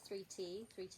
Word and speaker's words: 3T: I write it as a 3 and a T because that's how it's pronounced and spelled, like the word 30 with the I and the R the other way around.